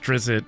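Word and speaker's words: Drizzt: series The Legend of I'm sure it's pronounced drizzit but I just like seeing drits so these this is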